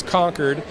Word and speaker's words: Concord: this town this is conquered it's spelled Co n c Rd so it looks like Concord but it's actually conquered New Hampshire and and